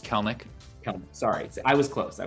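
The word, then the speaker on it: Kelenic: like you were a big mariners fan jared colenic or whatever the heck his name is just got called off are you excited that's it it's pronounced kalnik sorry i was close i was close but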